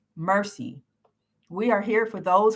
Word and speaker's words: MRCI: from mercy charities incorporated who are we mrci pronounced mercy we are here for those who need it